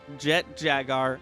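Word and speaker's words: Jet Jaguar: hedorah the smog monster space godzilla destroyer and jet jagar yes that's how you're supposed to pronounce his name you can tell each character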